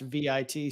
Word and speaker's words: Vite: carefully point out that fight is actually pronounced what however you pronounce SL vit slash but it's the French word for fast uh so saying pronounced